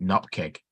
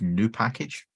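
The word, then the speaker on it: nupkg: pronounces it that way the actual correct pronunciation of n-u-pkg is new package because it comes from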